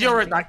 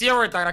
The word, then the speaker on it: Eurodite: You gotta say my name. It's Eurodite. It's Eurodite, okay? That's how I fucking know it.